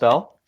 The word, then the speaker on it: Bell: So, speaking of Keith Bell, It's pronounced Bell.